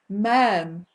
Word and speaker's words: ma'am: First, you say, Your Majesty, and thereafter, Ma'am, rhyming with ham.